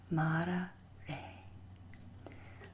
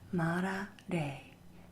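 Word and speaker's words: Mára re: Here you see we have the accent mark on the first A of Mara, indicating it is a long vowel and is emphasized. We also have the accent mark over the E in de, indicating that it is pronounced like the A in lake. Put together we have the phrase Mara re.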